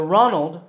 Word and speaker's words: Ronald: The Ronald rhymes with Donald.